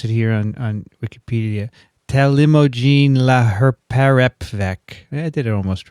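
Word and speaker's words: talimogene: well they had they tell you how to pronounce it here on on wikipedia telemogin i did it almost right uh there was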